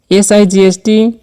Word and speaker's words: sight: S-I-G-H-T, इसलिए हम इसे sight पढ़ते हैं। यहां gh साइलेंट है। इसका अर्थ है कि gh का उच्चारण नहीं किया जाता है।